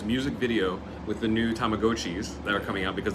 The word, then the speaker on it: Tamagotchi: a PR team from Tamagotchi, which now we're supposed to spread the word that everybody's pronouncing it wrong for the last 20 years. It's Tamagotchi.